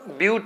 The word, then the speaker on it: but: कई लोग ब्यूट है इसको बट पढ़ देते हैं, गलती हो जाता है।